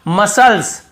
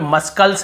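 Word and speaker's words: muscles: यहाँ पर भी देखिए मसल्स, मसल्स मसल्स, यहाँ पे मस्कल्स नहीं पढ़ रहे, यहाँ पर भी सी साइलेंट है।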